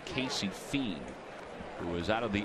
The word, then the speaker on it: Fien: It's actually pronounced Fiend. Casey Fiend, who is out of the Astros organization, made it to the major leagues with the Tigers back in '09 and 2010.